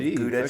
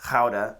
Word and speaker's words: Gouda: for its cheese so like you think of gouda cheese it's pronounced how to but that's where uh gouda cheese comes from